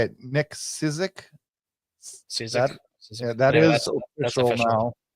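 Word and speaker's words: Cicek: Cizik.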